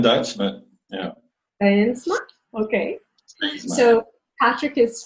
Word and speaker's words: Steensma: Steensma, we call it Steensma in Dutch, but yeah. Steensma?